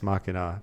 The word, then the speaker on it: Machina: like a deos X makina right the god in the machine uh yeah I think when they say deos X makina it's pronounced with a hard CH but I I would